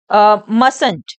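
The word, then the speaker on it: mustn't: तो कंट्रक्शन में फ्रेंड्स यह जो टी है मस्ट का जो य टी होता है यह साइलेंट हो जाता है यह रीड करा जाएगा मस फ्रेंड्स आप इसको मंट नहीं रीड करेंगे आप इसको मस रीड करेंगे ठीक है जो टी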